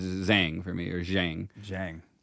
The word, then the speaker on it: Zhang: Because like Zhang rhymes with bang.